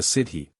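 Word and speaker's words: sídhe: Dwelling Places of the city pronounced shei or fairy folk who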